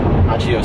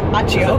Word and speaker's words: Accio: Accio semi.